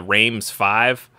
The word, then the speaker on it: Reims V: truck in the game called the Rams five and but it's spelled as Reims V so I'm pretty sure